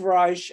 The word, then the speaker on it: Reich: to healing mysteriously enough steve reich and he does pronounce it that way was born in 1936